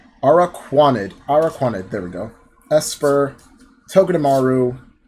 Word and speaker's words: Araquanid: Let's start off with Lantern, Unidentified Fossil, Araquanid, I think I'm pronouncing this one wrong, Araquanid, there we go, Esper, Togedemaru, Smeargle, Litten, Petalil,